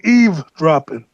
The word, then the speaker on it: eavesdropping: There's no V in eavesdropping. I've heard people call it eavesdropping, and then other people, but they're mispronouncing it. I've heard that. I've heard that for a long time with the V.